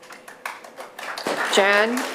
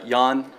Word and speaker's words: Jan: I would say it's starting with correction uh pronunciation sorry yes uh Yan uh all right um so